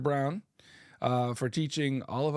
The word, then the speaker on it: Braun: Braun. Oh, it's pronounced Mr. Brown.